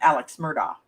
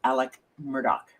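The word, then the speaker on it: Alec Murdaugh: You and the rest of us pronounce it Alex Murdoch, right? But he apparently pronounces it Alec Murdoch.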